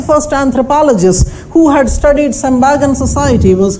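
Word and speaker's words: Tsembaga: T is silent, we call it Sembaga.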